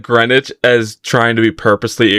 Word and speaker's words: Greenwich: Wait, is actually how do you Yeah, it's Greenwich. Here's the thing. I've only heard seen that word written before. Here's the thing. I said Greenwich as trying to be purposely incorrect and I thought it was green witch.